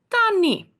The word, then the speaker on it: tannie: Aunt is called tannie. So when we write it down, it's got the double N. However, when we pronounce it, it is tannie.